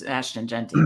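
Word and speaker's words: Ashton Jeanty: just like I assume I know you love jenty but um and am I pronouncing it right it's Ashton jenty right yeah okay um so for this you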